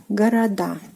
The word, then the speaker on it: город: So город, города. Города, city, cities. And pay attention to the stress position, город, города. So the stress falls on the last syllable, which is the ending of a plural form, which is "a".